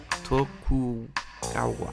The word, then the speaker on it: Tokugawa: guy in the middle towa toku gawa Tokugawa that's it that's how you say it I figured it out